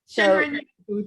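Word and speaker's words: 森林浴: Shinrin Yoku. Shinrin Yoku, thank you.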